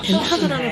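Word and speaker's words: Den Haag: 덴하그라는 도시가 약간 좀 낯설게 느껴질 수도 있는데 아마 헤이그라고 하시면은 헤이그는 들어봤어 하시는 분들이 많을 거예요. 덴하그를 영어식으로 발음한 게 헤이그예요.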